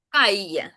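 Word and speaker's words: calle: Подвійна л геть зовсім втрачає звучання звука л. Його там немає близько. Воно звучить як й. І ще й таке як подовжене трошки.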